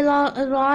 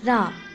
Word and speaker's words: ر: And you have to say ra like this. Ra. You don't have to say ra because it's wrong.